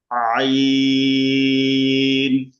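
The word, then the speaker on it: عين: আইন এটা অনেকে এটাকে ভুল করে, শুরুতে বলে আ, পরে বলে আইন, আইন, এরকম না। শুরু মাঝে শেষ সব জায়গায় এটা গলা মাঝখান থেকে নিয়ে আসতে হবে। তার মানে আগে আওয়াজটা ভিতরে নিতে হবে, তারপর উচ্চারণ করতে হবে।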